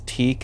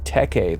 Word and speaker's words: Teke: It's not a coincidence that Teke the Smiling One, who I mispronounced as Teak in some of my previous videos, but having gone from paperback to audiobook, I now see my mistake. But yes, Teke the Smiling One is